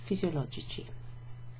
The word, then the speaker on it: fisiologici: It doesn't retain that hard k sound from physiologico. It becomes chi.